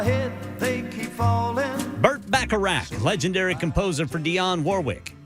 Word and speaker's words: Bacharach: Burt Bacharach. Bacharach. See, I always want to – is that the same pronunciation as the casino game that James Bond always played? That was Baccarat.